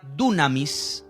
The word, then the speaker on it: dunamis: en particular es la palabra griega tsunamis tsunamis con acento en la y esa palabra dunamis significa eficacia fuerte capacidad